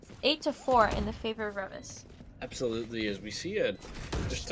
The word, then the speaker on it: Reavis: As I say their name wrong, is it Reavis? Is it Did I say it right? Yeah, Reavis.